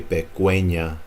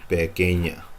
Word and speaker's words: pequeña: So don't try to pronounce that U. Don't say pequeña, it's pequeña.